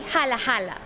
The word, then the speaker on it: Jala Jala: That one will be Hala Hala, because we said that also when we laugh, we write it as ha ha ha.